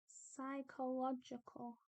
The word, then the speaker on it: psychological: Psychological suffering is psy. PSY is always the same as SCI in terms of how it's said. If we want to say physical, then we do a PHY for a f sound. But here we're making a psi sound, so we need a PSY, not a PHY.